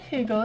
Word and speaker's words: Hugo: yeah matt hugo and correctly say hugo right you pronounce the h so let's see what